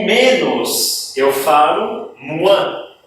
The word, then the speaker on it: moins: O menos, eu falo moins. É como se fosse um M, U, tá?